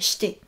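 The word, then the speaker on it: して: Donc, shite, avec le i quand on le prononce, qui est quasiment muet, shite.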